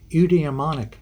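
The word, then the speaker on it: eudaemonic: happiness and another term that's important is called udemonic Happiness that's difficult to say I'll spell it for you e-u-d-a-e-m-o-n-i-c udemonic happiness meaning and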